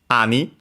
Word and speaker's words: 兄: So it means uh uh other older brother uh it has uh the uh strictly Japanese uh reading ani accent on the first syllable, which is the one